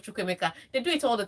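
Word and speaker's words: Chukwuemeka: Because when they call his name, you think they are saying, yes, Shakamaka, yes, instead of Chukwemeka.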